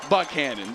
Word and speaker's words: Buchanan: But Tim Buchanan himself pronounces it Buchanan.